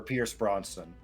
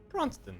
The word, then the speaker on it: Brosnan: You want a stunt double for Pierce Brosnan. Yeah. Also, apparently I am incapable of pronouncing his last name properly. I'm not going to work on it. Bronston.